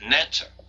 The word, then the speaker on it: neter: that this being was called by a name which was something like NE t r usually pronounced neter when we look into